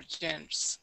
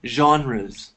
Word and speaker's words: genres: His plays are of different kinds or genres. There are genres. How do I pronounce it? It's that? A French word. You say genres.